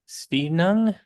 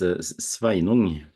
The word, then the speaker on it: Sveinung: Svinung, and sorry if I pronounced that poorly. Fine. It's Sveinung. It's a Norwegian name.